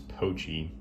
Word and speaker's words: Pochi: and yeah this is the spyderco actually mispronounced mispronounced it's poachy and yeah you can see it's a very